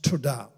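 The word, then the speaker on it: תודה: that is defined as Thanksgiving is the word toda tio W da h is pronounced toda so and it actually means the lifting of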